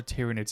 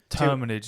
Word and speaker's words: Terminids: And then the next one is how do tyrannids have guns? But they're not tyrannids. They're termin. Is that what they're called? Terminids. Yeah. Sorry, I've been saying it wrong. They're termin. Terminids.